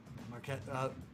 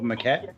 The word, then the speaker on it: maquette: Marquette. Maybe I pronounced it wrong. Marquette, like out of clay. Oh, maquette? Oh, okay, cool.